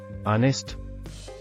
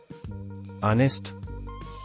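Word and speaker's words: honest: ಆನೆಸ್ಟ್, ಪ್ರಾಮಾಣಿಕ. Silent letter H. ಆನೆಸ್ಟ್.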